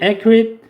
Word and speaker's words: accurate: 이때는 간결한 설명, 간략한 설명이고 굉장히 중요한 기본 단어 accurate이라고 하는 단어인데 강세가 이름절에 있습니다. accurate 이렇게 읽고요. 정확한이란 뜻이죠. an accurate description 정확한 묘사란 말이고 exact라고 하는 단어도 정확한이죠.